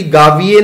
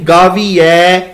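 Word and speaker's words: ਗਾਵੀਐ: इत्थे उच्चारण दा भी ध्यान रखना संगत जी, गावीए नहीं गावीऐ, ए ते ऐ, ला ते दुलावां दा, इत्थे दुलावां लगियां होईयां ने।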